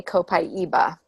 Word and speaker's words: copaiba: be pronouncing it correctly copaiba that's dr. hill pronounces it and i always present incorrectly right well if you're from Brazil which is where the oil comes from you would say copaiba but in America we